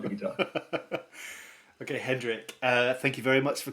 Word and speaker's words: Hendrik: Like Jimi Hendrix, but Hendrik. That's correct. Yeah, like the funny thing is everybody calls me Hendrix, like that is not from Germany.